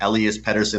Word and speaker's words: Elias Pettersson: And when I see a 6.5 line or 6.5 posted total, I see Elias Pettersson, or Elias Pettersson as they've been calling him. That's how you pronounce it in Europe.